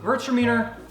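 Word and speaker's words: Gewürztraminer: now the next one hertz demeanor yes that's actually how you say it converts your meaning it looks weird i don't know why it's spelled that way it's german so virts demeanor very floral has a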